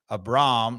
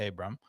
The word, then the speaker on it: Abram: out at Memphis that it's um a Braum not Abram Abram it rhymes with Philip LOM I did hear that